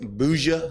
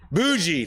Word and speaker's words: bougie: me that i was how do i say bouja is that the right word did i say it right boujee thank you i'm bougie and i thought if